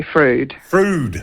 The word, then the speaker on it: Froude: fro hi Sean yes frude food thank you very much come from that's English English okay yeah thank